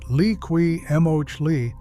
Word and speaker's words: Liqui Moly: If you want the same style of protection without the price tag, Liqui Moly, spelled l i q u i m o l y and pronounced lee-kwee mohl-ee, actually appears on the official JASO 4T registered list under the MA2 category.